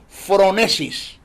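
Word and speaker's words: phronesis: lo que se conoce en el griego como fronesis se escribe pH r o n e s i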